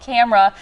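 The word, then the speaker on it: KAMRA: And again, it's called Camera. It's spelled K-A-M-R-A.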